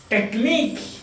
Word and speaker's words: technique: IQE, antique, antique, oblique, physique, unique, physique, physique, physique, oui, oui, physique, unique, unique, IQE, physique, unique, technique, yes, a simple word, technique, technique, technique.